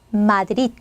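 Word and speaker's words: Madrid: 알아 주셔야 될 건요 단어의 맨 마지막 끝나는 철자가 대이다 자 그럴 때는 드 이렇게 빼 주시지 마시고 어때요 어 앞에 발음에 받침으로 넣고 발음을 딱 닫아 주시면 돼요 그래서 마드릿 마드릿 릿 하고 이렇게 딱 발음을 이제 닫아 주시면 되겠습니다 그래서 마지막 철자에 이제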